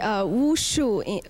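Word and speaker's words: 武术: Okay, Wu Shu. Actually, in Chinese, the right pronunciation Wu Shu, and it exactly translated as martial arts.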